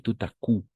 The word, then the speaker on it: coup: Et tout à coup. La P, on n'entend pas, no escuchamos.